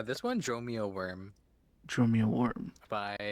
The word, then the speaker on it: wyrm: Worm as in like dragon or worm as in like worm. E at both? I Well, that's the it what w y r m is how it's spelled.